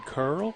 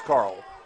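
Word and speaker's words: Kerl: Stephen Curl, is that right? Carl. It's Carl. Spelled with an E, though.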